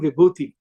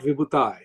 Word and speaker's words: Vibhuti: I am Vibhuti, I am not Vibhutai.